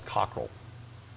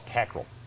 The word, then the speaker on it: Cockrell: know about ross cockrell you keep saying his name wrong you're saying ross cockrell his name's ross cackle well i'm going to